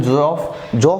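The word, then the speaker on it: Geoff: तो इनका एक भाई है, बड़ा भाई है जियोफ भी बोलते हैं, प्रोनाउंसिएशन जॉफ बोलते हैं, जियोफ बोलते हैं, ठीक है ना।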